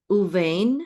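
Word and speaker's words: ובין: Uvain, now this uvain is the same as the word bain. The only difference is that there's a u or and in the beginning. And because of that, we've pronounced the bet as a vet instead.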